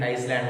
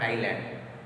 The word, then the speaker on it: island: Pronunciation is Iceland, not island.